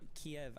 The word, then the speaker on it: Kyiv: So Kiev, I think, is a more Russian pronunciation, and Kyiv is a more Ukrainian pronunciation.